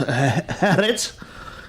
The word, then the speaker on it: Haaretz: Well, apparently an investigation by one of Israel's top papers, which I think is pronounced Haaretz, a lengthy 500-word article dismisses all the Old Testament stories.